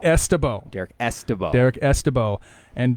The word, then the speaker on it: Ystebo: The Y is pronounced like an E. Yeah, so Ystebo. Ystebo.